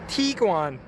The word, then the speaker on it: Tiguan: our automatics oh and excuse my pronunciation of Tiguan all the commercials that I hear it's Tiguan so tarry at the